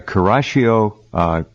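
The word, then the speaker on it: Kuroshio: The Kurashio current and the Oyashio current, I think I'm pronouncing those correctly.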